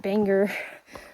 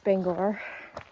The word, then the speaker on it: Bangor: it i watched a youtube video about not pronouncing it bangor but it's bangor um so yeah flying to bangor across from the airport there's a little bus